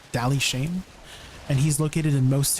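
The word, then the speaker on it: Dali Shain: just regular light stones to an NPC called Dally Shane. And he's located in most towns. It's spelled D A L I.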